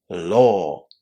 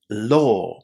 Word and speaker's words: law: Law. Law. Can you hear the difference between these two words? Law. That a w is pronounced as the long o sound.